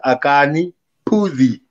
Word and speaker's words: Akani Phuzi: your play yes it's yours my name is akane pudi i was going to pronounce it correctly yeah yes oh yes another